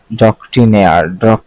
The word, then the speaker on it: doctrinaire: ডক্ট্রিনায়ার, আচ্ছা এটা উচ্চারণটা দেখা লাগবে।